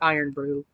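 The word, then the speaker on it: Irn-Bru: to open the other bottle one pounder fizzy iron Brew soft candy huh gummy candies inspired by a famous Scottish soda so I guess these are supposed to taste like iron Brew so they didn't put one in the Box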